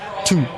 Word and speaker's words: Thy: So in uh yeah in Denmark a lovely distillery called tu spelled t h y y but pronounced tu tu.